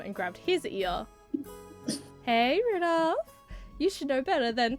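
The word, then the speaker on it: Rudolf: It's just Anyway, this guy's name is pronounced Rudolph.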